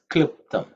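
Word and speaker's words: क्लृप्तम्: In terms of pronunciation, you have to pay attention to klu. I don't think we have come across this often, or maybe never so far in the Rudram Chamakam. Klu is u plus l, which is a vowel which is very rare in its usage. Okay, it should not be pronounced as lu or li.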